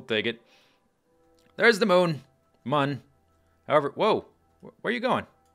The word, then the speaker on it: Mun: we we we uh We spelled it like you should pronounce it moon but we're really going to pronounce it mun you thought we were